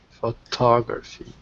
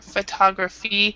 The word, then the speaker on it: photography: there are two yeah the the stress is completely different so and that makes it really different difficult like this one stresses here photo you know photo photo graph uhuh but in this one there's no stress in this part so it's an a sound it's called awah in English photographer photography so anyway